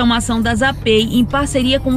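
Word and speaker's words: ZAPAY: Então lembra, o nome é ZAPEI, se escreve Z-A-P-A-Y, e aqui na descrição do vídeo vai ficar um link para você acessar bem rapidinho.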